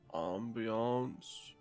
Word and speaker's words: ambience: i just like the ambience it's pronounced ambiance the ambiance i like to say it like that it makes me feel more fancy i don't get to